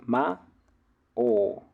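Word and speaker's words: 魔王: Entonces esto en realidad se pronuncia Mao Mao como una O alargada pasan un montonazo de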